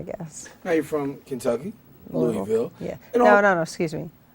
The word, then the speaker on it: Louisville: Now you're from Kentucky, Louisville. Yeah. And No, excuse me. Louisville. Louisville. There's so many ways that you can pronounce it.